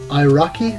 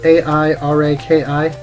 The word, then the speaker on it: Airaki: And then this one is Airaki, I think that's how you pronounce it. A-I-R-A-K-I. Airaki.